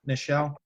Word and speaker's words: Nichelle: Nichelle?